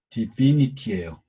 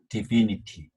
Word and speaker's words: divinity: divine, 여기 파랑색은 I라고 발음이 되는데 knife일 때처럼 ITY가 붙으면 영향을 받아서 divinity예요. I로 발음됐던 게 E로 발음됐어요. divinity.